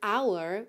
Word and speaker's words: hour: Ah, e claro, não esqueçamos que essa palavra hour ou hour é uma das exceções aí em que a letra h não é pronunciada.